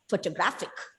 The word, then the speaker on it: photographic: see i see so the penultimate syllable is stressed gra photographic that's it so this